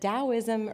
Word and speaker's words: Daoism: So, it's spelled with a T or a D. It's pronounced with a D. Um, so you'll see it both ways, but Daoism originated about 2500 years ago.